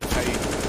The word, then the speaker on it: paiN: No, it's pronounced paiN, actually, Hugo.